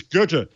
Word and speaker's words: Goethe: So yes, it's Goethe. Goethe. And how do you pronounce this?